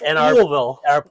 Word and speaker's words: Louisville: So this company actually in Louisville, and I'm being told by our editor, it's Louisville.